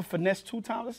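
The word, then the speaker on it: Finesse2Tymes: to be um listen I you the rapper finesse two times that's how that's how you say his name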